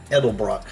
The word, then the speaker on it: Edelbrock: Yeah, Edelbrock.